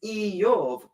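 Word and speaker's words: איוב: And the same with the name Job, which in Hebrew is Iyov.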